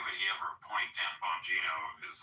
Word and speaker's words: Bonino: the beginning, why would he ever appoint Dan Bonino is like, you know, maybe they just didn't.